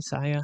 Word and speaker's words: Sia: So I was like, I was talking the other day about, does this artist sound like Sia, S-I-A, Sia? How do you say it? Sia, right?